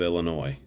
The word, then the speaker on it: Illinois: in my class to stop pronouncing the S on the end of Illinois so I feel truly